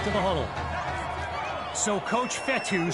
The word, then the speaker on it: Fetu: So Coach Fetu spelled F-E-T-U. For the longest time, I was pronouncing it Coach Feta, like fettuccine.